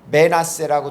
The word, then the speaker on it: 므낫세: 그 발음은 메나세라고 되어 있는데 뜻은 우리는 보통 므낫세라고 합니다.